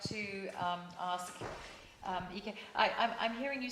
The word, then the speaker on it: Ike: It's complicated by the fact that many people who have not met me instinctively go for Ike, which is the name, but actually, as a child, I was called Ike. Okay. To rhyme with Nike.